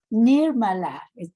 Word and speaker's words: Nirmala: Nirmala, that's how I say it correctly.